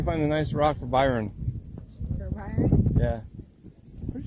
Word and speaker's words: Byron: Byron, that's how you say his name. Well, B-Y-R-O-N.